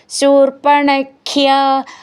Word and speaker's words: ശൂർപ്പണഖ്യ: ഉണ്ട് അപ്പൊ വിസർഗം പറയണം ശൂർപ്പണഖ്യ ഖ്യ എന്നുള്ള അക്ഷരം നന്നായിട്ട് ഊന്നി പറയണം മദന ചലതേ മദന ചലതേർ